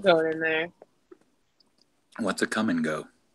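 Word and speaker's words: Kum & Go: What's a come and go? It's a gas station chain based out of Des Moines, Iowa. It's real. It's real. It's spelled KUM ampersand GO.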